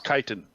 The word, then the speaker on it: chitin: activate here hang up everything I recall is Titan Titan yeah it says chitin yeah so yeah you'd